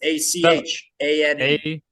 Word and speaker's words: Achane: I don't know how to say his name. It's Achane. Achane.